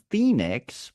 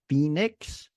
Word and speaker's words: Phoenix: you rather travel to Phoenix or Philadelphia notice the uh the pH here when we combine the p and the H together it's pronounced like an f f f f right Phoenix or Philadelphia so ph